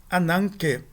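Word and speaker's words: ἀνάγκη: Antes de gutural, tende-se a pronunciar a nasal como uma gutural, como uma nasal gutural, que é representada pela letra gama. Então, ananke, nós temos um kappa aqui,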